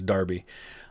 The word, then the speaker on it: Derby: civil parish of darby and the town of derby i think i'm pronouncing that right i'm pretty sure in the uk they pronounce d-e-r-b-y as darby um so they're split on two pages actually